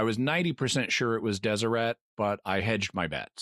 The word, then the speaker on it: Deseret: episode PS Deseret is pronounced with the hard t at the end Deseret I grew up in